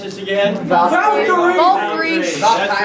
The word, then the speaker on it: Valkyrie: How do you pronounce this again? Valkyrie.